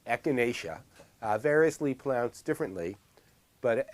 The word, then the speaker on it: echinacea: plant and the plant is gang that's right echinacea variously plants differently but echinacea is generally its correct pronunciation a key means shop or Hedgehog like